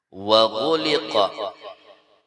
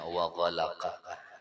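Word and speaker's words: وَغُلِقَ: Wa ghuliqa, bisa juga bacaannya wa ghalaqa, itu bisa juga. Mun ghalaqa kembali kepada Allah dhamirnya. Tapi bacanya gulika lah.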